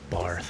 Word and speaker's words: Bath: Barth, okay. But you spell it Bath.